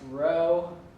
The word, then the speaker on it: rho: um this number is looks like a p but it's pronounced row rho o it's a Greek symbol um usually people like to pull out row if R is already